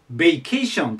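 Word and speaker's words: vacation: 聞きやすいですねただ発音は最初ベイになりますベーションと言いますベーションでここにアクセントがきますねベーションでま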